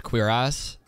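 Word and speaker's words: cuirass: all this stuff ancient please tell me that's pronounced queer ass I'm sure it's not but if it's pronounced queer ass I will be so pumped it actually is it's a queer ass that is incredible huh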